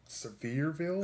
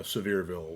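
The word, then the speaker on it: Sevierville: Severeville. I think that's how it's pronounced. It's like it's it's spelled s e v i e rville.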